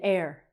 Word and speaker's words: heir: And we have this word again, an heir. And still I I'm still not comfortable with this. How is this even like the thing that we breathe in air?